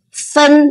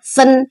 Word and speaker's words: 分: Dipisah jadi fen bacanya fen.